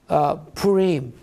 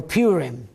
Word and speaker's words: Purim: It's known as Purim, or Purim, as Americans pronounce it.